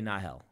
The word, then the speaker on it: Nahel: And eventually the canonization can change that over time, even my pronunciations and things like that. So I say Nahel.